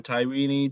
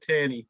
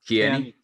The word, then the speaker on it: Tierney: Even the keepers, Craig Gordon, David Marshall, John McLaughlin, Scott McKenna, Kieran Tyrini, Declan Gallagher. Did you say Tyrini? I did. How do you say it? Tierney. Tierney.